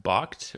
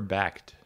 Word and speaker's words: Bakkt: today is it pronounced bocked or backed box sounds like the European pronunciation well being in London I have to give it the German treatment you know okay got